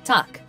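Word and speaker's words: Takk: hello in Icelandic is pronounced Hollow thank you is tuck yes is yah no is nay goodbye is bless 14.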